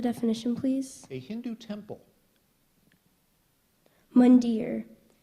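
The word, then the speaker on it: mandir: I have the definition please a Hindu temple mundar m a n d i r mere correct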